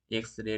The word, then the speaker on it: X-ray: with a vowel sound in this case X is pronounced like e x right e x so this is treated